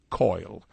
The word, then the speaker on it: coal: shuffled off this mortal coil," when we have ended our life, in other words. Well, in my part of the world, we pronounced coal, C-O-A-L, as coil.